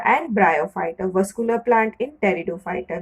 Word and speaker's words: pteridophyta: Vascular plant in pteridophyta, where the P is silent.